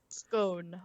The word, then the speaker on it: scone: Scone rhymes with bone. You don't say scone, do you? Scone is a scone.